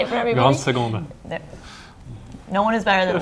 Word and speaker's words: Grande Seconde: Grande Seconde. No one is better than Louis than pronunciation.